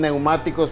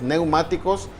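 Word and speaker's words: πνευματικός: ustedes lo pueden ver se pronuncian neumáticos pero se escribe de diferentes formas tiene esta es una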